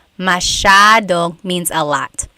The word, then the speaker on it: masyadong: Elijah said, how do you pronounce masyadong? Masyadong means a lot. So the S-Y-A is a sha sound.